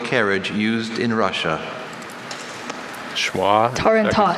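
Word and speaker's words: tarantass: Jaden, your word is tarantas.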